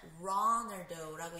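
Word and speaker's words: Ronaldo: 호날두라고 얘기를 하는데 영어로는 runald라고 얘기를 해요 그런데이 R 발음이이 크리스티아누 호날두 선수가 사는 나라에서는요이 알 발음이 아니라 약간 약간 그 발음이 난다고 해서 그 흐 발음이 나서 그 포르투갈 발음에 적당하게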